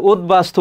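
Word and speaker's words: উদ্বাস্তু: ঝ উঝ এটি হবে আর উদবাস্তু উচ্চারণটা কি হবে যদি যুক্তবর্ণ আকারে থাকে সেগুলো তুমি পৃথক পৃথক ভাবে লিখবে তাহলে এখানে কি হবে উদবাসতু কি হবে উদ বাস্তু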